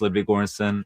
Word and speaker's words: Ludwig Göransson: My name is Ludwig Göransson. So that's how it's pronounced.